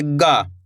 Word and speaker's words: ग: इसको अपन ने कैसे पढ़ा का, इसको ख, इस तरीके से गा, कैसे पढ़ेंगे गा, जैसे कि गाय, गमला, गा, नॉर्मल उच्चारण निकल रहा है गमला, गाय, गा, इस तरीके से गा, इस तरीके से पढ़ेंगे इसको।